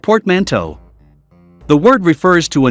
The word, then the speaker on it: portmanteau: take a look at portmanteau words pronounced portmanteau the word refers to